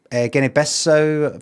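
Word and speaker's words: Guinea-Bissau: And then Guinea Besso, that's how you say it.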